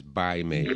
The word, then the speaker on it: Pai Mei: Actually, the pronunciation is Bai Mei, but they spell it with a P.